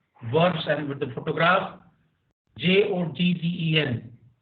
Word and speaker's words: joggen: J-O-G-G-E-N, Joggen. J is pronounced like Y, okay?